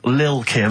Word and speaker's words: Lil Kim: I'm pronouncing that correctly, Lil Kim. Oh, no T's involved.